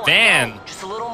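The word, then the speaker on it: Vaan: can call this kid van his name is V but that's that's an archaic pronunciation so we're going to call him we're going to call him uh van throughout this three more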